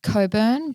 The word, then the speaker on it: Cockburn: in the city of Coburn it is it is pronounced Coburn but it is read cockburn we had people not